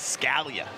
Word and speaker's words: Scalia: He says Scalia.